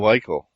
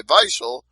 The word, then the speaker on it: Weichel: And I know he pronounces his W's with V's too, because I heard him do it while I was talking to him. He said vate instead of wait.